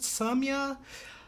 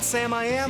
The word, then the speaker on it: Samia: here from samya samia i think it's pronounced samya it's not sam i am i know that much she's an independent pop